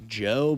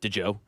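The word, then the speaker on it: Djo: Do you understand why his name is pronounced Joe, but it's D-J-O?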